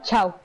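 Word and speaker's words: tchau: chau chau se escribe se escribe techado pero se pronuncia chau chau toma todas a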